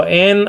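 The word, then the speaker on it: ἡ: So en auto zoe ein. Now it says and, okay, the, or kai hey is a feminine article. It would be pronounced e nowadays.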